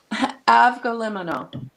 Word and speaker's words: Avgolemono: Avgolemono. Avgolemono. Just the way it's spelled.